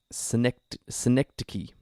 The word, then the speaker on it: Synecdoche: Synecdoche. Synecdoche.